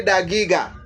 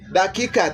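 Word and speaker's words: دقيقة: Minute is dakika. But because of the pronunciation, you will hear most of them say dagiga. Dagiga. But it's simply dakika. The way we use it in Swahili.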